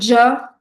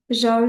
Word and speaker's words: ج: Par exemple, on va dire Ja, Ju, Ji. Ok, on dit pas juste Ja, Ju, Ji. Non, on dit Ja, Ja. Donc comme un D plus un J.